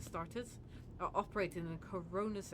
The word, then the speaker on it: Astartes: Fragmentary accounts lead me to believe that the blessed Adeptus Astartes, that's not how you say it, Astartes, are operating in the Cronus Expanse, and I await news of their victories with great anticipation.